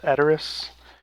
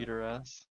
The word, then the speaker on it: Edoras: Like the town of the Rohan people in Lord of the Rings is called Edoras. But Eater ass. there was a guy in our in our high school that pronounced it Eater ass.